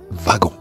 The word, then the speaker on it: wagon: Le mot wagon s'écrit avec un W et pourtant se prononce V de wagon.